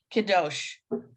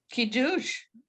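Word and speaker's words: קידוש: Kiddosh, Kiddosh, Nope. Kiddush. Right. Kiddush. Much better.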